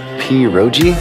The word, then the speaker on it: pierogi: Pierogi? Did I pronounce that right?